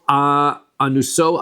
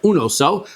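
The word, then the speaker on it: ענותו: Uksiv zechor Hashem leDavid es kol anuso asher nishbal Hashem. Is that anuso? That's the proper pronunciation. Is was es kol unoso. Sorry, unoso asher nishbal Hashem.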